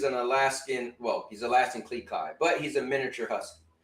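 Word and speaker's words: Klee Kai: is a al he's actually called a Alaskan Cleai, right? It's spelled K L E E K A I. Yes. And um that means he's an Alaskan Well, he's Alaskan Cleai, but he's a miniature husky.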